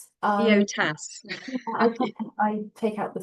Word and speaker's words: EOTAS: say what is EOTAS, but how did you pronounce it? I say EOTAS. EOTAS.